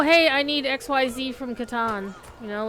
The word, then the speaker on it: Catan: actually Katan because uh German does not have the ah sound in similar circumstances oh that other warband